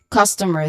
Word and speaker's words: customer: So this is customer. The stressed syllable here again is on the first syllable, cos. So this is customer.